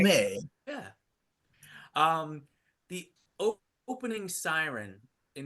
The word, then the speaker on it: Lumet: It's French. It's French. That's right. Lumet.